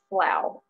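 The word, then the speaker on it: سڵاو: kurdish which is pronounced slough even though it looks like slaw they pronounce it slow and on an academic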